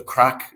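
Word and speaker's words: craic: suppose our love of the crack and that's spelled c-r-a-i-c just for those that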